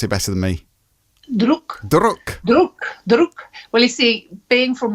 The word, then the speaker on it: Druk: You can pronounce it better than me. Druk.